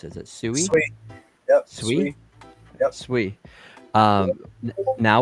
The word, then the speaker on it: Sui: I mean, and then the big announcement today with I don't even know how to pronounce it. Is it Sui? Sweet.